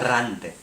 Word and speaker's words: errante: Errante. Say it? With many R's. Many R's.